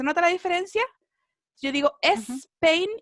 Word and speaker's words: Spain: Que la S al comienzo de las palabras en inglés no se pronuncia es, ¿sí? Uno hace el sonido de la S solamente. Spain, ¿cierto? Spain, ¿ya? Para que no cometan el error, ¿cierto? De decir Spain. No, ¿cierto?